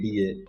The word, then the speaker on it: FADA: in deciding industry trends so basically uh we pronounce it at a that fada and not pada and this is an effects body for automobile